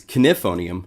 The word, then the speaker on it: Knifonium: If you want information on Knifonium, actually it's Knifonium. I gotta say it right. I said it Knifonium for a long time, and then I found out it's Knifonium with a K.